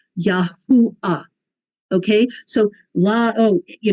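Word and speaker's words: יהוה: the Germans call it Yahweh that's not Hebrew you know later on the Catholic church called it Jehovah again not Hebrew there's no J in the Hebrew language no J no J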